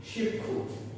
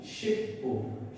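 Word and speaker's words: 십구: শিবখু, শিবখু, শিবখু। কিন্তু dear viewers, এখানে এর উচ্চারণটা শিবখু হবে না, কারণ আপনাদের নিশ্চয়ই মনে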